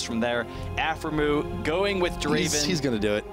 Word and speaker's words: Draven: it's a very huge you have to say it like Draven all right okay let's